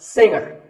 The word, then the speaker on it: singer: Now, we say finger, we say the G. Younger, again with the G, but singer, no G.